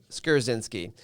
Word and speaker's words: Skrzynski: Let's say it correctly. Skarzinski in the house, and I'm learning.